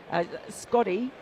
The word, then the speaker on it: Scotty: Scotty, who likes to tell us all that his name rhymes with Hottie, did this morning anyway, which I thought was outrageous.